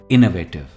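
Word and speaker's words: innovative: उसे हम कहते हैं इनोवेटिव और यह जनरली टेक्नोलॉजी में यूज होता है इनोवेटिव स्ट्रेस ई पर है इनोवेटिव for example the company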